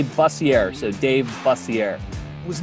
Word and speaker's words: Bussier: my whole life but it's it's actually buzzier so dave bussier i